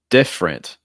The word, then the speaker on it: different: you say that beverage different different so the first e is not pronounced also notice you have